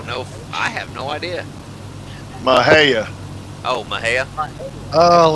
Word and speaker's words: Mexia: Mahia. Oh, Mahia? Oh, like Oaxacan. stuff. Yep. Okay. Oh, it's using the other English pronunciations of the letters.